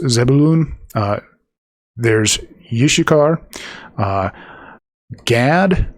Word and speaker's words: Gad: Uh gad typically pronounced may sound like god uh because it's g a w uh in the phonetics.